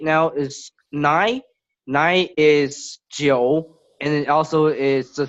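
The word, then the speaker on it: 九: Nine is Jiu, and it also is the same pronunciation.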